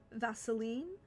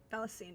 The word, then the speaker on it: Valisine: Vaseline. Valisine, excuse me, is what it's actually pronounced.